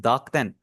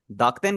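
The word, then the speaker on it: 濁点: इनको हम बोलते हैं दाक्तन। दाक्तन के अंदर जो बीच वाला ऊ है वो आपका साइलेंट होगा, इसे आपने दाकूतन नहीं पढ़ना, दाक्तन।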